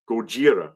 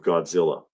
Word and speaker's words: Gojira: Gojira. Oh, what is that? 1954 Gojira. That's the correct pronunciation of Godzilla.